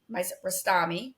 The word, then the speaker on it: Rostami: Shima Rostami. Rostami. Yes. Correct. That's correct. Rostami. I'm saying it right.